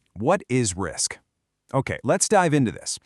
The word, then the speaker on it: RISC: You pronounce it RISC, and it stands for Reduced Instruction Set Computer.